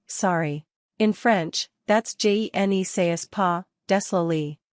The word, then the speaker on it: désolé: In French, that's juh-nuh-say-kwa, désolé. Pronounce désolé as des-o-lay.